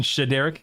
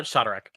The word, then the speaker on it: Shadarek: And then Shaderk. Correct. Uh, Shadek. Sha Shadek. Okay. I'm very particular about names. I like getting names correctly. So, Shereek. Shadek.